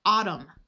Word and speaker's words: autumn: If you have a word ending in MN, the N is going to be silent. AU is ah, so we have autumn, column, condemn.